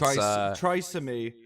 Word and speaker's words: Trisomy: It's Trisomy.